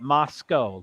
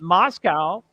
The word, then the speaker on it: Moscow: believe I do believe all the people locally call it Moscow like c-o-e okay go but just